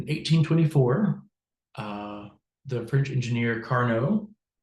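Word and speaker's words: Carnot: uh the French engineer Carno sounds like Carno because he's French and French has a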